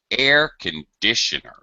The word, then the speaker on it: air conditioner: And now our main stress in the word conditioner, instead of going up on dish, it goes down. Air conditioner. So there's a dip, and then it goes back to our unstressed syllables where it's sort of in the middle. Air conditioner. So we pronounce the word differently if it's part of a set phrase.